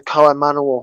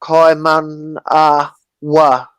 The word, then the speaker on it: Kaimanawa: breed them and preserve the bloodline of the Kaimanawa horses. It's spelled Right. Kaiman. Kaimanawa.